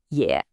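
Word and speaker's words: 也: This character is yeah, and it's pronounced yeah. Hey, another third tone for us to practice.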